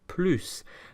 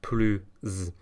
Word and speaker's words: plus: or a silent H, the S is liaised, so we're not going to pronounce it plus, but instead plus. So for example, happier is plus heureux. More interesting is plus intéressant. So in actual fact, the S sounds more like a Z than an S.